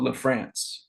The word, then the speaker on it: Lafrantz: her husband, Jack, are in a group called La France. It's spelled Lafrantz, and they have a new song out called Rattlesnake.